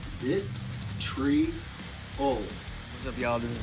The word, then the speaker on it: Vitriol: proper way to say our band name is Vitriol. Vitriol. What's up, y'all? The way you pronounce our name is Ghost.